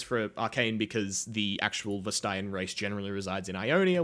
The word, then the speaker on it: Vastaya: Vastaya.